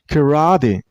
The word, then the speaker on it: karate: Kari and while you pronounce this word you also stress on the middle syllable I mean on ra sound kra karate the last syllable isn't